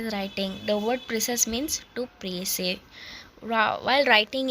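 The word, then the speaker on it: précis: by3 of the original in the word preis the silent letter is s this is compulsory in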